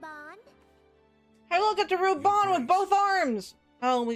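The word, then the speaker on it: Raubahn: if I like it I am raon Alin no it's Ruban shut upce you just said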